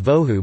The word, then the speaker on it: bohu: Bohu means void in the Hebrew Tanakh, the Old Testament, though bohu may be pronounced as vohu by modern Israelis when the b is preceded by a vowel and thus lacks dagesh.